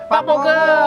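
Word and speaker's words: Park Bo-gum: Park bogem. Bogem. Yang bog sih bogem. Park bogem. Bogem. Bacanya bogem. Pak bogem bacanya.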